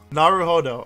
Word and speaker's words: Naruhodō: I still can't pronounce his name. Ryūnosuke Naruhodō. Naruhodō.